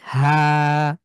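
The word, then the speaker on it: حاء: হাটাকে কণ্ঠের ভেতর থেকে, হা, হা। কণ্ঠের চাপ দিয়ে, কণ্ঠের ঠিক হা।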